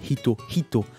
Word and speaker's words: hito: Hito. Hein, une personne, c'est pas Ito, c'est Hito. Hito.